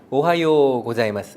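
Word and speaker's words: おはようございます: 잠 했어요 예 그런데 여기서는 우 라고 써있지만 일본어 발음 에서는 우울하고 강조하지 않고 요 요를 길게하는 느낌이에요 그래서 오하이오 오자 ms 가 아니라 오하이오 고자이마스 이런 느낌이에요 노래하듯이 같이 한번 해보겠습니다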